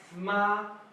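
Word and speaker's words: 妈: And it's pronounced ma.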